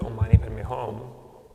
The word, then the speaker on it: Om Mani Padme Hum: Sometimes we do Om Mani Padme Hum, which is 6 syllables, but that tends to be a little bit more difficult as we chant faster.